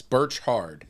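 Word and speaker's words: Birchard: Birch hard bertard yes Birch hard Birch hard like a tree orchard is probably how it was pronounced but it's Rutherford hey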